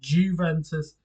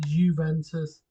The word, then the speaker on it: Juventus: It's like the Italian football team Juventus. When I first watched Italian football, I thought it was Juventus, not Juventus.